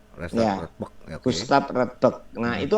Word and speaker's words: Radbruch: Ya, itu tulisannya Radbruch gitu. Tapi Radbruch. bahasa Jerman, ya, bahasa Jerman. Bacanya Bach. Bach, ya. Radbach.